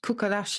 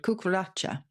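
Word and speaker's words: cucaracha: the cockroach because it comes from the spanish cuckolash i can't uh my spanish is not very good kokolacha so c-u-c-a-r-a-c-h-a but because we couldn't pronounce that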